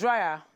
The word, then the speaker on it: Draya: He engaged Draya, however you pronounce her name, Draya. He engaged Draya, not hair dryer.